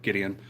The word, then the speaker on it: Gideon: said that right Gideon I think that's correct Gideon nice to meet you brother I'm Jack welcome cheers happy Friday so the sunken grave um awesome I'm glad I pronounced your name right Gideon uh so the sunk and Grave yes there's